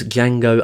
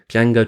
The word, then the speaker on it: Django: In Django Unchained, Django tells Nero's character that the D in Django is silent, to which Nero's character replies, "I know."